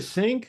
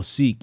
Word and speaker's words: Sikh: a Sikh how you how do you say a sink oh seek yeah seek yeah I saw that